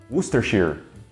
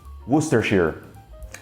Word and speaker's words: Worcestershire: Só que o jeito certo mesmo de pronunciar isso aí é Worcestershire. Eu vou repetir. Worcestershire. Faz algum sentido? Nenhum. Por que isso daqui é pronunciado como Worcester? Eu não sei. Por que Shire e não Shire?